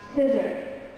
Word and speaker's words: scissor: The C is not going to be pronounced when following an S at the beginning of a word and followed by E and I, like sound, and scissor, and sign.